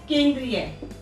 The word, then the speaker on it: केंद्रीय: तो बड़ी की साउंड आ रही है यहाँ पर, छोटी की साउंड नहीं आ रही है।